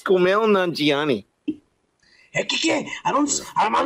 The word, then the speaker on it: Kumail Nanjiani: And I'm doing the fucking American accent, by the way. All right, Kumail Nanjiani. I said it right. The real accent would be like Kumail Nanjiani.